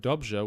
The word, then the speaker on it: dobře: And so I wasn't sure if it was the rolled R or the kind of more zh sound, like in the word dobře, which means good.